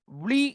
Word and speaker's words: vlie: So Vlie is pronounced as flea in Dutch.